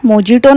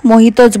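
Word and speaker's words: mojito: मोहितो घेतला होता आता त्याच्या स्पेलिंग मध्ये जे जरी असला तरी त्याला मोजिटो नाही तर मोहितोच बोलतात पण अडाणी लोकांना काय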